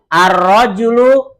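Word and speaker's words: الرَّجُلُ: Ar-rajulu, apa artinya? Laki-laki. Ini roknya fathah, jimnya doma ar-rajulu.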